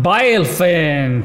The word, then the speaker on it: Bilefen: Bilefen, so this is how you pronounce it.